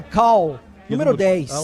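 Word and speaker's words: Karl: Eu imagino que é Cal.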